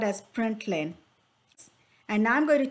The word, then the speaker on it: println: len now print len this is pronounced as print len it means print in a new line ln stands for printing a new line and it's called as println and now i'm going